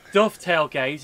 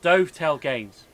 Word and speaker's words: Dovetail: biscuit you don't go it's like it's dovetail gaze it's not dovetail games it's like you don't go watch um the flying doves you go watch the